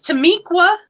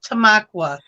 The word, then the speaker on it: Tamaqua: came to this town i'm like it's tamiqua you've never heard of a town called tamiqua my friend looks over and she says it's tamaqua same difference it sounds